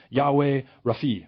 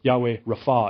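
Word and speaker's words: Yahweh Rapha: and they're simply this Yahweh Rafi or Yahweh Rafa is how you pronounce that so there's this instance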